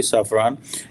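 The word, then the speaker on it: Safran: सैफरान obviously इसकी exact pronunciation यही होगी सैफरान, कि वो जॉइंटली जो है वो डेवलप करे, डिज़ाइन करे, मैन्युफैक्चर करे इंजन्स जो कि इंडिया को दिए जाएंगे।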